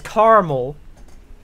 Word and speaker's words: caramel: Whoever says caramel is ignoring the A in caramel.